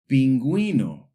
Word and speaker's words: pingüino: But if we see a diéresis, those two little dots over the U, it tells us, hey, this U should be pronounced. For example, pingüino and bilingüe.